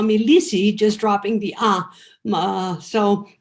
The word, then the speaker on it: Leecy: name is most people call me lisey i was raised in brazil where my name uh is pronounced and so i grew up having people call me lissy just dropping the ah so that's where